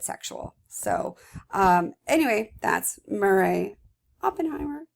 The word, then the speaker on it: Oppenheim: So anyway, that's Murray Oppenheimer. I'm sorry, Oppenheim. I keep saying her name wrong because I always say Oppenheimer because of the atomic bomb.